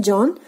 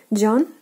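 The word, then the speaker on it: Джон: You just know that J sound is translated as the Z, and if we are listening to pronunciation John, the only thing we are left with is on. So that's it. John, John, John, John. So the only difference is with the J sound, which has to be the Z in Russian.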